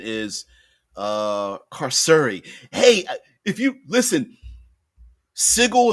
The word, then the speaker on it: Carceri: Official pronunciation of pronunciation is carceri.